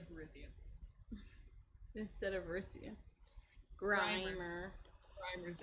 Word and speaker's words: Virizion: Yeah, shell us the balls into Gastrodon by saying Verizon instead of Virizion.